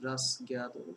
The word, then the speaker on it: rasgueado: Could you please explain what is rasgueado? Am I pronouncing it correctly?